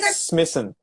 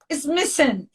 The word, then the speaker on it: Smissen: Did I spell correct your name? Smissen? Yes, you nailed it. Smissen. Smissen.